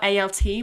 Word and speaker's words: alt: It's actually spelled a l t, but we don't really pronounce that last t on the end.